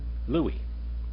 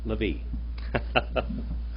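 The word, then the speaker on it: לוי: How do you say Levi in Hebrew? Modern, not modern Hebrew, but ancient Hebrew. Louie. Modern Hebrew. Levi.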